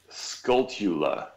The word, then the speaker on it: Skulltula: I realized it's pronounced Skulltula it's cold chilly like a tarantula yeah yeah skulltulas I